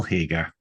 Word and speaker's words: Hagar: It's a weird one to pronounce, but yeah, I am Hagar, as in Hagar the Horrible, the Viking.